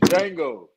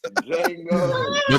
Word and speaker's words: Django: was G say pause the D is silent oh it's Jango it's D Jango Jango since we was talking